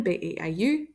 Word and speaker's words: Beau: pronounce that boy's name b-e-a-u Beau and it is the homophone of this word bow all right laptop's charging